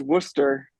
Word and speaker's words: Worcester: Oh no, it's not going to be Worcester then, is it? It is Worcester. Oh yeah, yeah. As in Worcestershire sauce, which exactly.